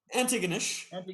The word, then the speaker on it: Antigonish: From your humble beginnings began in Antigonish.